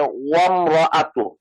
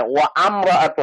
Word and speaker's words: وامرأته: আর এই যে ওয়ামরা, এটা ওয়ামরাআতু, মানে ওয়া আমরাআতু না, কিন্তু ওয়ামরাআতু, ওয়াওয়ের সাথে মিম ওয়ামরাআত লাগিয়ে যাবে। ওয়া আমরা না, ওয়ামরাআত ওয়ামরা, ওয়াওয়ের সাথে মিম, মাঝখানে যে আলিফ যেটা, এটার কোনো উচ্চারণ নাই।